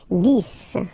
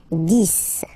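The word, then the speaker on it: dix: so let's start now this okay so remember final X here is pronounced like s this this okay then okay so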